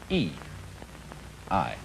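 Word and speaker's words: 義: call not law but justice this word is pronounced e i and justice in this sense corresponds rather to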